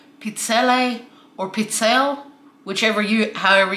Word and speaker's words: pizzelle: to use them i'm making homemade pizzelle i pronounce it pizzelle some people pronounce it pizzelle whichever you pronounce it it's delicious these are